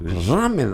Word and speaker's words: ramen: Tiene ramen. Así. Sí, pero acá falta acento. En todo caso, ramen tiene un acento en la A, ¿o no? Porque es palabra llana, por eso ahí está.